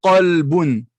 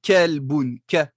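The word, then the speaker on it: قلبٌ: Qalbun. Qalbun. Effectivement, il y avait un qaf au début. Je n'ai pas dit kelbun. Kelbun, non.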